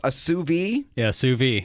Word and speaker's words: sous vide: What we're going to talk about is something I don't even know if I can pronounce. A sous vide? Yeah, sous vide.